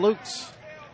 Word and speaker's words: Lutz: I'm pretty familiar with most of Florida, but I think it's L-U-T-Z. It's Lutz, Florida. But let me know if I got it wrong.